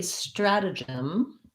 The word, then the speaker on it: stratagem: We go back to our flap T and first syllable stress. So again, my strad, like in strategy, and then gem. We have the J, the J sound, gem.